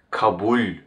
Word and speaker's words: kabul: The last le is palatalized. Kabul. If it was not palatalized, I would pronounce this word like this: kabul, kabul. Hear the difference: kabul, kabul, kabul, kabul. Because it's pronounced as kabul, it receives ler as a plural suffix.